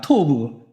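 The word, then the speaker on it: טוֹב: 토브 발음 잘하셔야 돼요. 토만 하면이 희한하게 오해가 됩니다.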